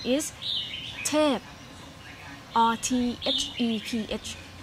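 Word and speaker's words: Theph: The Thai word that mean God in the name is Thep or T-H-E-P-H. It's pronounced Thep.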